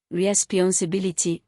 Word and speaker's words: responsibility: Ity, nationality, weight, nationality, stress on al, responsibility, stress on bi.